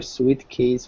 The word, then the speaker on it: suitcase: S-U-I-T. The I is not really pronounced. So it's just an oo sound.